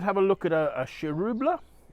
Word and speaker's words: Chiroubles: a look at a cherubula definitely you don't pronounce the S on it so um one of the crews of Beaujolais so this is from domain LaFarge vial um it's 2019. um shirubula uh one of the